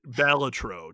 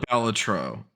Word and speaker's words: Balatro: Before we get into this, do you pronounce mhm. it Ballatero or is it Ballatro to you? Because I've I heard both. call it Balatro.